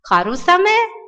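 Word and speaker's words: 春雨: Но вот как раз в случае со словами «весенний дождь» и «осенний дождь» у него нетрадиционное чтение «саме», «харусаме» и «акисаме».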